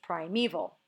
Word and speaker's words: primeval: also doesn't work because we don't say this is the forest prime evol really it's primeval so here the knowing